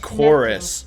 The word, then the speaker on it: Chorus: Oh, so it looks like you guys are saying it should have been pronounced chorus for that space sim game or space combat game.